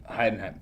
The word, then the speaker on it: Heidenheim: in Heidenheim? in 3rd. Is that how you say it? Who? Heidenheim.